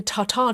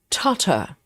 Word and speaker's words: tartar: It's not tartar. Amanda says we also don't put emphasis um on the second syllable instead of tartar is more like totter.